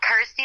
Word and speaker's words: Kirsty: that it's you know rhymes with my name and helps people pronounce my name correctly so I'm like cool Kirsty like thirsty got ity like thirsty